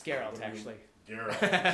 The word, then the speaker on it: Geralt: Geralt. It's a hard G.